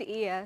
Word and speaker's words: Ia: me out with that yeah it's it's pronounced ear so my full name is